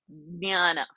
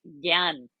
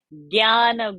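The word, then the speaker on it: ज्ञान: But basically, nya is a formation of j and not g. G is in gutter, j is in palate. So in Sanskrit, we should not say gyan. So that is a Hindi pronunciation.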